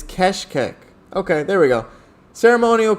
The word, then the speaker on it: Keşkek: Let's see if I can get it. Keşkek. It is keshkek.